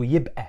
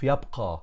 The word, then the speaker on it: يبقى: So the qaf in the modern standard Arabic, we turn it into Hamza. So يبقى instead of يبقى in modern standard Arabic.